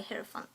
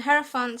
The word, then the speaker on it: hierophant: I'm going to pronounce it that way, hierophant.